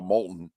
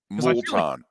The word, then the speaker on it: Moulton: how do you it's you pronounce it like Molton Molton lava oh okay don't spell it that way though what's the worst pronunciation of your last name that you've ever gotten molon molon molon yes molon